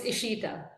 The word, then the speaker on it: Ishita: else to make sure they have the correct pronunciation um it's Ishita is okay and thank you so much for